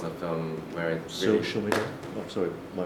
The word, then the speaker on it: Silmido: Silmido? Oh, sorry, my pronunciation. Silmido.